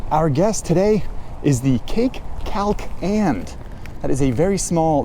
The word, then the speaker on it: Kalk: I thought it was pronounced Kalk, I think understandably, but it's pronounced Kalk, which I'm told is the Swedish word for